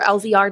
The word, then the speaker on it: Laser: So, we are Laser Marketing, um, or LVR, depends on how you read our logo, but Laser is how we pronounce it.